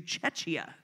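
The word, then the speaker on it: Czechia: They have officially changed the English pronunciation of the name of the country to Chechia.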